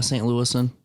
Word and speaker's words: St. Louisan: Louis Globe Democrat that said St. Lucian? How do you say St. Lucian? Yeah, St. Louisan.